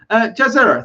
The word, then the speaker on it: Jazera: I think it's Hebrew, but my dad says it's Ja, like Jack, and Mockingjay. So Jazer. Oh, okay, Jazer. I say Yazer.